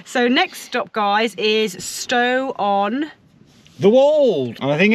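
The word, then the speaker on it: Stow-on-the-Wold: So next stop, guys, is Stow on... The Wold. I think it's pronounced Stow on the Wold.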